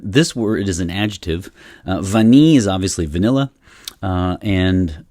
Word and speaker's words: Vanille: word is an adjective vani is obviously vanilla and you don't pronounce the l at the end and then so it's